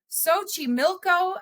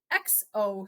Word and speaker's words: Xochimilco: Xochimilco, Mexico. Do you want to know how that's spelled? Xochimilco. Xochimilco.